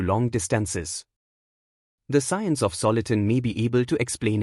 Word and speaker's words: soliton: The word soliton is apparently derived from solitary wave, which being stable acts almost like a particle. Hence soliton rhymes with electron.